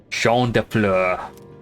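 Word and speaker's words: Champs des Fleurs: the exact same building Champs de floors how do you say that it's sha Flur sha def Flur it means fields of flowers this is the place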